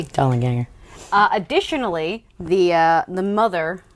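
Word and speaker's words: Dollanganger: the attic following the dollar ganger doll and ganger or as i pronounce it dolan ganger don ginger dollar ganger i like a soft g dollar ganger additionally the uh the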